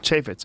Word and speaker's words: Chaffetz: Chaffetz, who had a very controversial bill that he had out that was pulled back.